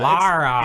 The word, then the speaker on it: Lara: Laura? Laura. They say, Laura. yeah. Lara. It's not. It's different than the American Laura, than Laura. It's Yeah.